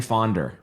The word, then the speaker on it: Faughnder: I've been saying his name wrong for so long, but we're getting it right today. Ladies and gentlemen, Dan Faughnder.